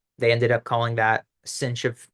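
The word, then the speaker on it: sinh: the hyperbolic sign function it's pronounced cinch of X and it's defined as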